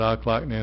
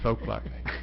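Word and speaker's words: Ochlockonee: When I came here 8 years ago, OCH generally is pronounced Ock. I called it Ocklackney until they beat me over the head, and it's Oaklackney.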